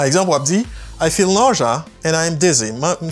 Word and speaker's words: nausea: Ou dit ça, nausea. Nausea. Nausea. Il y a plusieurs prononciations. Nausea ou nausea, nausea. Ça peut dépendre de à qui elle soit parlé de qui côté.